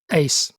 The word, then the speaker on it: Uys: was his name again it's spelled uys but pronounced Ace Ace that's right Captain Ace so here's the captain